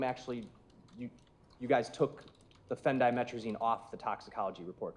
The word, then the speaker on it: phendimetrazine: That is spelled PHENDIMETRAZIN. Phendimetrazine.